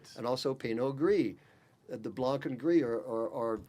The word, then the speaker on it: gris: But Garnacha, you would certainly in Spain you roll your R, so it'd be Gris. En français, it would be Gris. In the throat, yes.